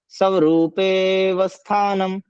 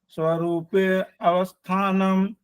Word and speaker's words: स्वरूपेवस्थानम्: तदा द्रष्टुः स्वरूपेवस्थानम्। तदा द्रष्टुः स्वरूपे अवस्थानम्। तदा आ नहीं बोलना, द्रष्टुः आ नहीं बोलना, स्वरूपे अवस्था नहीं बोलना, अवस्थानम्। अवस्थानम नहीं बोलना, स्वरूपे उसके बाद सीधा व बोलना।